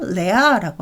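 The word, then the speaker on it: rhea: 예를 들자면 레아라는게 있는데요 r hea인데 h 발음은 없어요 레아라고 하는데 이거는 이제 분비물 뒷차지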